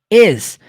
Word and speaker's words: is: be a palavra ex você não pronuncia com som de s tem som de z ex is quando a gente falou